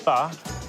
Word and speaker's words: pho: Pho, or it's actually pronounced pho, is a Vietnamese word.